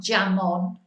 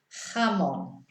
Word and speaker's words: jamón: But see how it's a H sound, not a J, not jamón. No, jamón.